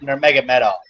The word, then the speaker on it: Nurmagomedov: Mine is Khabib Nurmagomedov. I just don't know what it is about Nurmagomedov, but I'm like one of the rare people who actually say it right.